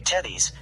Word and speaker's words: Tethys: The name Tethys has 2 customary pronunciations, with either a long or a short e. This might be a US-UK difference.